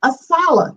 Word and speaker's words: ASALH: you i'd like to share some information about asala that's how we pronounce our acronym a s a l h